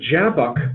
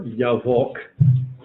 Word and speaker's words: Jabbok: The Jabbok River, or Yavok, pronouncing it Hebrew-like. Arabic will have a J sound, but not Hebrew.